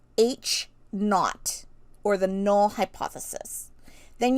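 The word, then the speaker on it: H₀: the bottom right corner okay and that is pronounced H naught or the null hypothesis then you'll usually see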